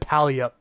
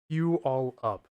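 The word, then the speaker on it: Puyallup: Let's see if he pronounces Puolive correctly. He just said Palup. That's funny. Oh boy. Yeah. Pew all up.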